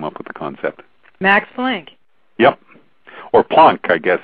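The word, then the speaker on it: Planck: original language you should be saying Einstein and plunk okay so if I if I understand you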